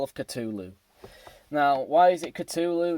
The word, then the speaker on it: Cthulhu: caught the call of cthulhu now why is it Cthulhu not Cthulhu basically James Hetfield couldn't really pronounce it Cthulhu always pronounced it Cthulhu and like I said it's got a silent h and it suits the